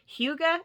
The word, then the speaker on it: hygge: Hygge, I think it's pronounced, Hyggge. It's Danish, and it really means like a home-like atmosphere where you are, it's very sensory, very relaxing.